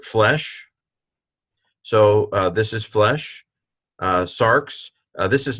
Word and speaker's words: sarx: Sarx, Sarx. Oh, well, that's nice. Put a little trill into the R.